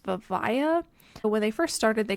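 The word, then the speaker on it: Vivaia: I think it's pronounced Vivaya.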